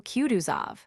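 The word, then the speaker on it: Kutuzov: General Cuduzov said Bulkanssky speaking French and stressing the last syllable of the general's name like a Frenchman has been pleased to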